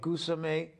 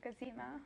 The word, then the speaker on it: Gazima: Also, if I can get, I'm going to mess it up, I think, but Gazime, did I say it right? No, Gazima. Gazima. I even wrote it down, Gazima.